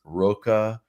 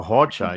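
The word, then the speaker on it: Rocha: And just look at these bracelets, this Roca bracelet. We talked last week. Oh, Hocha. Yeah, the R is spelled, it's pronounced H.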